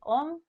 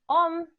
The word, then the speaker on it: Om: Sí, Om es un mantra que está compuesto por tres sílabas. La primera es A, ¿sí?